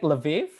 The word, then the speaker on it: Lviv: She was born and raised in, is it Lviv? Another. Yes, that's right. Okay. She was born and raised in Lviv, Ukraine, and she graduated from the Ivan Franko Lviv National University in 2016 with a bachelor's degree in Japanese language.